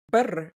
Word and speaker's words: Birr: And how do I pronounce it? Bitcoin Birr.